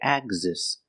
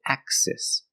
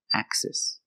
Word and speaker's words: axis: The X is between vowels, but we don't say axis. There's no voice. It breaks the rule. It's an exception. We pronounce it axis, axis.